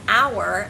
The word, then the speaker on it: hour: is when you have a word that starts with a silent consonant for example the word our as in what hour of the day is is you would say an hour 3 1200 I exercise